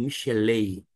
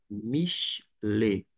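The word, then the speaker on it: מִשְׁלֵי: Acontece que eu não vou pronunciar Michelet, Michelet, tampouco Michelei. E eu, Gustavo Luiz, vou pronunciar fazendo, vou dizer assim, uma adaptação, uma questão de eufonia. Michelet.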